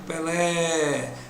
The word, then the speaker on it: Pelé: Assim, a palavra Pelé, vejam só, a palavra Pelé é oxítona, porque a sílaba que eu posso prolongar, sílaba tônica, é a sílaba que pode ser prolongada. Então eu digo Pelé, a sílaba tônica é a última, ela é oxítona.